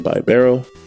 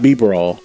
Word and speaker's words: Bibarel: I'm going to get the buy Barrel not B barw by Barrel so in case anybody